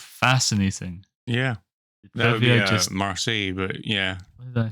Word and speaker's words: Marseille: Because it's Marseille is the location.